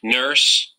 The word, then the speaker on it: nurse: Ahí está, UR, la U es muda, por eso vamos a escuchar Nurse. nurse y no nurse ni nurse, nurse.